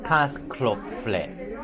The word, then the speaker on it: Käsespätzle: pronouncing. So, Käsespätzle.